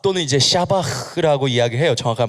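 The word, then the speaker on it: שבח: 근데, 자, 샤박 또는 이제 샤바흐라고 이야기해요. 정확한 발음은. 네, 좀 발음이 좀 그렇죠. 약간 가래 뱉는 발음일 수도 있는데, 이제 샤바흐라 그래요.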